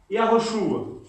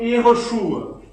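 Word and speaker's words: יהושע: Aí o nome se pronunciava Yahoshua, ou Yehoshua. Né?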